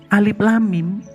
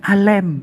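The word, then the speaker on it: الم: Alif lam mim itu sebenarnya bukan alif lam mim bacanya, tapi alem.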